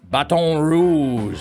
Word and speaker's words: Baton Rouge: Well, in Baton Rouge, Louisiana, Baton Rouge, Louisiana, which is how you're supposed to pronounce it down there, uh, Don J.